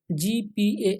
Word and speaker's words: GPAI: artificial intelligence जी पीएआई इसको हम लोग शॉर्ट में जी पे बोलेंगे क्योंकि ऑफिशियल भी इसको जी पे प्रोनाउंस किया गया है दोस्तों 12